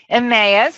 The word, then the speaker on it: Emmaus: Hoy, I'm probably going to mispronounce this, is that Emmaus? Emmaus, thank you.